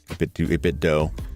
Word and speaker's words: 8BitDo: 8BitDo. I never quite know how to pronounce it. It's like 8BitDo, like Nintendo, but I always just want to say do.